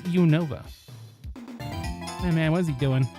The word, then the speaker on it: Unova: than the up way I pronounce it. Univa. That's That's That's a perfectly chromulent pronunciation. It's It's Unova, man.